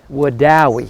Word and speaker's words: Wedowee: all day just to learn how to say it would die okay am I saying it right Matt you got it I mean we're always